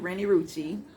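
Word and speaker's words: Renni Rucci: That's how you say it, Rennie Rucci.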